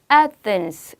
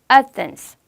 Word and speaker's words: Athens: 두 번째, 우리가 아테네라고 하는 그 도시 있죠, 여러분. 예. 이렇게 적고 Athens 이렇게 발음돼요. 아테네 전혀 다르죠. 다시 한번 연습. Athens.